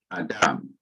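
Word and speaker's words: אָדָם: Now here is a noun, atham. In modern Hebrew, it would be pronounced Adam.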